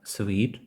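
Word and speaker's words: suite: вони зовсім відрізняються Ось перше ми вимовляємо як Sweet sweт там є відголосок в як цукерка I love sweets Тобто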